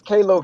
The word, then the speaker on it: Kalo: I was going to say, I think you're saying it wrong. It's Kalo K.